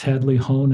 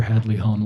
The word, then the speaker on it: Hadley-Hone: Um Alex Hadley Hone and Parker Hadley Hone, welcome to the podcast.